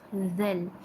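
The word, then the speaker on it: ذَ: Ini adalah huruf dal dan huruf zal. Jadi apabila berbaris atas, kita bacanya sebagai da dan za. Untuk huruf za, hujung lidah perlu sedikit menempel pada gigi atas.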